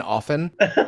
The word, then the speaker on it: often: What bugs me is people who overpronounce the T in often. Often. I'm like, calm down with that. We don't need that T in there.